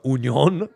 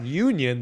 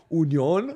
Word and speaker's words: Union: called Union Berlin but we gotta go on Union because that's the German pronunciation they're not Union they're Union so uh that's fun